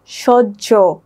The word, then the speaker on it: সহ্য: যেমন সহ্য, এখানে হয়ের সাথে জ ফলাটা যুক্ত হয়ে এই শব্দটার উচ্চারণ হয়েছে সহ্য।